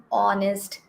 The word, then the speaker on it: honest: used and here because our pronunciation is starting with the letter o not with h so again here our